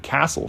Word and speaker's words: castle: Ah, my linguistics are showing again, but now you know why there's a silent T in the word castle.